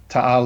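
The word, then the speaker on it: Taal: take care of buddy art Carlson so Lake tau is formed by a volcano hang on say that again I'm saying it wrong clearly is you you are saying it wrong yeah well your wife's like tal lake and you know this because because it's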